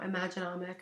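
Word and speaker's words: Imagenomic: It's Imaginomic, I think that's how you pronounce the company's name, and their product is really good.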